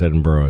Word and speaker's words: Edinburgh: It's actually pronounced Edinburgh, I think.